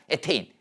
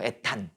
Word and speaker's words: 에테인: 에테인. 옛날엔 이걸 뭐라고 읽었어? 에탄이라고 읽었어. 영어로 이렇게 되거든. 일본식 발음이죠. 에탄. 이게 영어식으로 최근에 표기법이 바뀐 거야. 에테인 이렇게 된 거야.